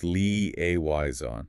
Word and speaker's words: liaison: Pronounced leayon. Leayon. This one is tricky because of that strong French influence, particularly the initial lee sound and that soft almost nasalized zon ending.